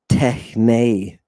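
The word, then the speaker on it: τέχνῃ: And I, unlike the authors, want you to pronounce the iota subscript. Techne. Techne. I want to hear it, right?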